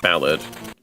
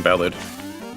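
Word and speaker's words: Ballade: term ballad or Del I think it's pronounced ballad yeah ballad but anyway ballad works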